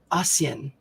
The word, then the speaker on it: Ahsian: It's by Robert Simmons and Naisha Asian. It's spelled Ahsian.